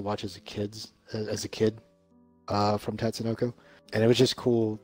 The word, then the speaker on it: Tatsunoko: So I do like the Wii one, which is actually named Tatsunoko versus Capcom, which some of all those...